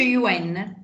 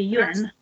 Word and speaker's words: yuan: Però si pronuncia così, sì, yuan. Il suono è lo stesso. Il suono è lo stesso, sì, yuan.